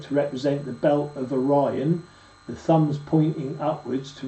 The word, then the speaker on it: Orion: The password of this degree is Orion, pronounced as a test by giving the long sound to I. You see? So the test of this one, instead of going Orion, yeah, it's Orion.